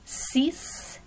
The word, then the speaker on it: six: we pronounce the t same thing in the numbers sis so c looks just like english right but we pronounce it c in french and the same with